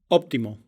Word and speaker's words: óptimo: в конце слога, то это не значит, что там действительно звучит П, Т, К. Там всегда звонкая фонема, которая по общему правилу произносится как аппроксимант. óptimo, atmósfera, anécdota, Вторая группа